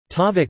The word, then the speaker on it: tavuk: Tavuk pronounced tavuk comes from Old Turkic takagu and means chicken.